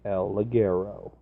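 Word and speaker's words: El Ligero: it's say it right say it right it's el Leggero yes look arrow they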